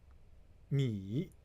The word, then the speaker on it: 眯: this character has another meaning is called uh pronunciation is uh me okay uh now me means means like a